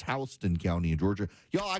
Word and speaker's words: Houston: K-A-R-O, but nope, it's spelled Cairo, but they pronounce it Cairo. My favorite is we have Houston County in Georgia, but it's Houston County in Georgia.